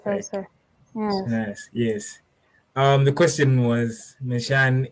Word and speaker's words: Sanaz: and I wanted to ask if this is a correct pronunciation as well from Sanaz. Like Professor. Yes. Sanaz, yes.